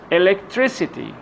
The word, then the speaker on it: electricity: in ity ity put the stress of the syllable before ity okay let's have some examples electricity electricity tricity this is the part which is